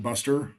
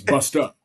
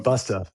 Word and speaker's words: Busta: And like I would have, like I would pronounce it Buster. Hey Buster, but it's bust up. So Busta.